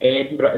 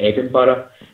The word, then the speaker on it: Edinburgh: Edinburgh is pronounced Edinburgh, not Edinburgh, not Edinburgh. It's Edinburgh.